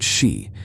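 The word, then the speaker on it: 四: The number four is pronounced she, which is a homophone for the word death.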